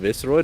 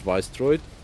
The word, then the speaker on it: Visceroid: that S there leads me to believe that very much should be pronounced Visceroid and not Viceroid. Because they're written as if it's just a change on vicious or viscous or anything Viscous. along those lines, because it's an S.